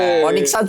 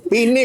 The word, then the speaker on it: Phoenix: Ponixans. Lu tahu enggak ponikans si basket. Phoenix. Phoenix bacanya.